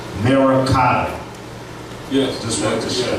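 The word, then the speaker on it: मरकत: And in Sanskrit, emerald is pronounced Merakata.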